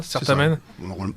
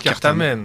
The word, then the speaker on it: Certamen: Vous prononcez comme ça, Certamen? Je le prononce comme ça. Enfin, Thierry dit on va dire Cartamen. On va dire Cartamen, mais la prononciation scolaire française et la prononciation ecclésiastique.